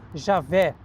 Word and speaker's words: Javé: que é Yah Yah Alguns falam Javé que é uma forma aportuguesada e Javé De onde surgiu